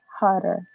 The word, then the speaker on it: hotter: La doble T se pronuncia como R, hotter.